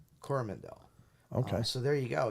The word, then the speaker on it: Coromandel: creature um so yeah New Zealand yeah in corvandel coromandel okay so there you go yeah so no